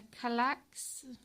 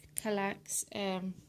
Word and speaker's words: Kallax: So I got this cabinet from IKEA, and I think it's a Kallax unit. I think that's how you say it. It's Kallax, and they come just